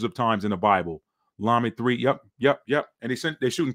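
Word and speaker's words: למד: The ship had a Hebrew symbol for Lamed. Okay. That's the modern Hebrew pronunciation of the La or the staff.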